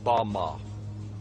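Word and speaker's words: בָּמָה: which Satan fell is Strong's Hebrew word 116 pronounced Bama Bama is most commonly used to refer to a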